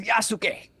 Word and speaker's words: Yasuke: Who's playing as Yasuke? Yasuke. You say Yasuke, not Yasuke. Yasuke.